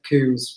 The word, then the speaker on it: Combes: Combes. Ah. Yeah. So there's not two O's. Sounds like Coombs, but it is Coombs.